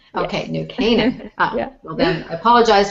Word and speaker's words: New Canaan: Now, did I pronounce the name of your town right? It's New Canaan. New Canaan. Okay, yes. New Canaan.